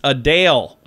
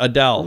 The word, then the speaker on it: Adele: times how about Adele no it's a Dale yeah a Dale not Adele really yeah Eden Burr